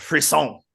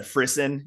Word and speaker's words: frisson: excited too so the topic today uh is pronounced free song it is French uh I've always said frisen in my head because I've never actually really